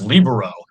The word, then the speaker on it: libero: I was at a party with a couple ex-presidents, and I pronounced it libero, and they said, "Oh no, Mr. Alvarez, that's libero."